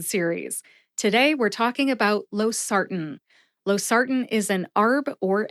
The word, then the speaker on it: losartan: Losartan has 3 syllables. Low, like low-hanging fruit, SAR, like